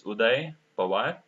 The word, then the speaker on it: Uday Pawar: Okay, so yeah, my name generally they pronounce it in a wrong way. It's Uday Pawar.